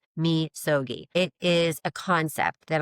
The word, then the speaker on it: Misogi: I don't know if you've ever heard of this before, but it's called Misogi, and it's spelled M in Mary, I, S is in Sam, O G I, but it's pronounced Mogi.